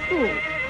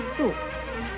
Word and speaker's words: 塑: 塑这个字的国语注音是塑，四声塑，丝物塑，四声塑。